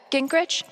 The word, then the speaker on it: Gingrich: Steph, Gingrich? Is that how you say it? Yeah, that's right.